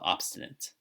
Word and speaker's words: obstinate: sorry it's in this short short I sound so not long a short I so obstinate all right so just